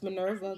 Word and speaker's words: Minerva: just getting I don't know what it is Minerva pronounce Minerva good thing I was pronouncing it right is